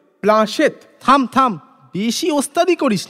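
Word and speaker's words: planchette: প্ল্যানচেট। প্ল্যানচেট? প্ল্যানচেট কাকে বলে? তুই একটা গাধা, প্ল্যানচেট করে ভূত নামায় জানিস নে? এর মধ্যেই কোত্থেকে পাঠার ঘুগনি চাটতে চাটতে ক্যাবলা এসে পড়েছে। ভুল হলো, ওর উচ্চারণ হবে প্লাঁশেত।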